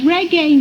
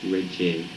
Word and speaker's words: reggae: And it's mispronounced in more ways imaginable. It's okay. Up to yesterday, I was calling it reggae. I have gone through that period too. But we used to call it reggae.